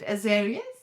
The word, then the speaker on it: Azarius: What is the Azarius energy healing? Again, I I hope I'm pronouncing it right. Is it Azarius? Yes.